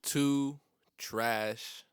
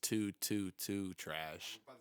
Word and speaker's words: 222trash: too trash, often mispronounced as 222 trash, but the first two and the last two are silent. It's just the middle two that says two.